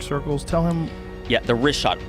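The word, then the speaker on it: Richat: Yeah, the rishot. R I C H A T. It's worth mentioning here in the first couple E uh I just want to say it's Rishot. I used to call it Rickot.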